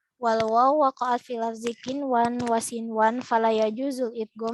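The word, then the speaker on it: قنوان: Dan di dalam hukum ini hanya ada 4 kata, yaitu kinwan, sinwan, bunyan, dan dunya. Cara membacanya adalah melafalkan huruf nun sesuai dengan makhraj atau sifatnya.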